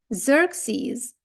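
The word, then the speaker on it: Xerxes: з zeroк тактак Це той самий ксерокс Але читається zerx знія ніколи не здогадаєтесь але це таки Ксенія zerxies знофobбія Ну і коли пишеться через рисочку окремо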